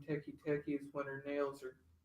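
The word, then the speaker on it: Teke Teke: But this one, I think it's pronounced Teki Teki.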